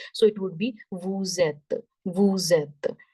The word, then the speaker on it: vous êtes: When it starts with, when any word starts with the vowel, it carry forward the last sound. Right. So here, this is at, but this E is vowel. So it carry forward the sound of S. So it would become vous êtes. Vous êtes. The sound of S, when carrying forward, it would become Z.